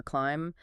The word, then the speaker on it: climb: It's a pattern you often see when B comes before a T or sometimes after an M like in thumb or climb. The B just disappears in speech.